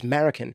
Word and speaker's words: Marroquin: And a lot of people said, why are you saying his name wrong? It's Marroquin.